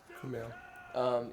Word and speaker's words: Kumail: Kumail.